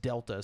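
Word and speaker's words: Δ: the we little uh triangle thing is pronounced Delta so it's Metal Gear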